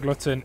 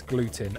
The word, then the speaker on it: gluten: Not glutton, it's gluten.